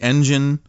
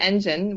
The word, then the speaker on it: N*GEN: for next generation but we like to pronounce it uh like engine the car engine that moves yeah or any engine